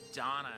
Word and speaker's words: Dana: It it's uh it's going to take a lot of getting used to um pronouncing her name as Donna instead of Dana.